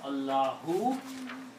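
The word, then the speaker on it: اللهُ: But if this is the last word of the sentence, or you have to stop somewhere, then you don't need to pronounce Allahu. You can pronounce Allah.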